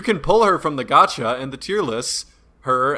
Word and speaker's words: gacha: young yeah yo is that how you pronounce it is it a gotcha game gotcha yeah yeah as in gotcha you're going to jail